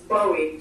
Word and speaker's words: Bowie: what you say hers this is bowie she said like uh the singer um but uh anyway